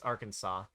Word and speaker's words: Arkansas: You mispronounced Arkansas? It's Arkansas.